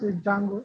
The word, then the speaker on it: Django: it's Django. So I mean, just food for thought. I mean, this is now we pronounce it D silent.